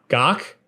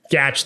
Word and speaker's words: Gach: Gawk. Uh Ethan Gatch. Gach, thank you. I wasn't quite sure if it was like a German thing or anyway, Ethan posted